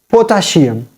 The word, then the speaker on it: potassium: We pronounce it potassium.